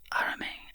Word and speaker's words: arame: Yes, arame, I'd say arame. The Japanese word is pronounced arame with the stress on the second syllable, like edamame, I guess.